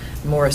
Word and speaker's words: Maurice: a poet from Kentucky Morris spelled like Maurice and uh he's a